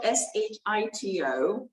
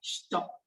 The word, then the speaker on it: shito: It's spelled S-H-I-T-O, but it's pronounced Shito.